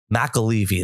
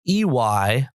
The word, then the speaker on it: McAlevey: He pronounced her name completely different than me, but he knows her and knew her, so I'm going to give him the nod. McAlevey, that's McAlevey, a really blistering read, a